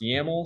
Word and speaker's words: YAML: up the project uh this extension over here yml is pronounced yaml so this is the